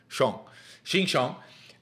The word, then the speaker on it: Xinjiang: All right, it's pronounced Xinjiang.